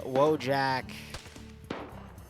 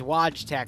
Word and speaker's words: Wojtek: So we've got Gregory, Wojak. It's Wojtek, but I call him Wojak.